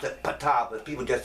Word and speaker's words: Ptah: This particular book, Ptah, or I pronounce it Ptah, but people just say Ta. I'm like, if the letter is silent, it should be invisible too.